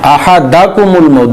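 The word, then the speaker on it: أحدكم: حتی اذا جاء احدکم الموت حتی اذا جاء احدکم الموت حتی اذا جاء احدکم الموت احدکم الموت، دال کے اوپر زبر پڑی جائے گی، احدکم الموت احدکم الموت۔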